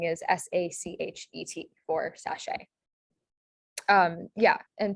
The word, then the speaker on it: sachet: last one um so this is pronounced sachet and it has that a sound at the end of a word so lots of different